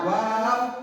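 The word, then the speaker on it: واو: নাম ওয়াও তার নাম ওয়াও উচ্চারণ কেমন হবে ওয়াও উচ্চারণ করতে হবে ওয়াও দুই ঠোঁটের মাঝের ফাঁক হতে আদায় হবে ওয়াও দুই ঠোঁটের মাঝে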